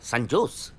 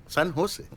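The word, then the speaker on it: San José: ও বাবা, সান জোস? সান হোসে, সান হোসে, হ্যাঁ সান হোসে। জের উচ্চারণটা এইচ এর মতো হবে, সান হোসে।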